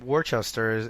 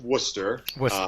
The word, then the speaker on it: Worcester: pretty fun cool you're now you're build from Worchester and that's not actually where you're from is there a reason why you picked that town yes um it's actually pronounced Worcester sorry New Yorker over here you know very